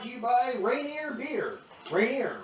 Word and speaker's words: Rainier: Rainier rhymes with beer.